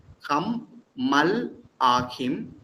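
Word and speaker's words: המלכים: Yeah, it's a la is not pronounced because what precedes is a short vowel. Hammalachim.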